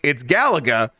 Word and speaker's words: Galaga: And I'm like, and she's like, "Is it Galaga or Galaga?" And I could have just died. I'm like, this was incredible. It's Galaga. But can you go over to that?